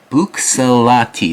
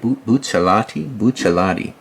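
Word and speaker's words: Buccellati: I need to get better at pronouncing it, but Bucsalati, that's how I would say it. Bucciolati.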